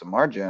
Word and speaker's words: Samardzija: He told me that it was pronounced Samardzija, and I said, well, spelled differently, but pronounced like the old Notre Dame wide receiver, Cubs pitcher Jeff.